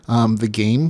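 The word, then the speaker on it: The Gam3: The game, which is spelled GAM3, World Seed, Futuristic Dungeon Core, Continue Online, Phantom Server, Office Wars.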